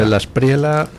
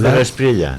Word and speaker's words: De la Espriella: Ha sido el día de ayer con la victoria de de la espriela. De la espriela. Espectacular. No es de la espriella. No, no. De la espriela. Italiano. Es italiano.